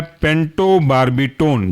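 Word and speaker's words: pentobarbitone: साथ कहलाएगा ये ब्यूटो बर्बिटोन दूसरा एग्जांपल है पेंटो बर्बिटोन जो बिल्कुल पढ़ा अभी आपने ब्यूटो उसकी जगह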